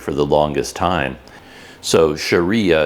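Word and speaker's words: Syariah: the longest time so Sharia is spelled s-y-a-r-i-a-h and I didn't know what that word was and I didn't know how to say it but then someone eventually told me that no it's it's the same it's it's because this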